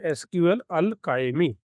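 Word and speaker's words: SQLAlchemy: तीसरा हम पैकेज लेते हैं एसक्यूएल अलकाइमी। इसका स्पेलिंग ध्यान रखना। एस क्यू एल ए एल सी एच ई एम आई।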